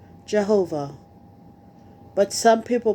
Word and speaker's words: Jehovah: In English, it is usually pronounced Jehovah, but some people pronounce it Yahweh.